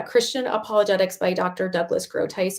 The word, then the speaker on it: Groothuis: Douglas Groothuis. It's Groothus.